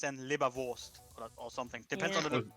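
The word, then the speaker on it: Leberwurst: phonetic pronunciation in german it's libra vulst but the r isn't really pronounced it says it's in libervost or something depends on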